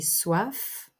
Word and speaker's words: soif: froid j'ai chaud j'ai soif en prononce le F j'ai soif j'ai faim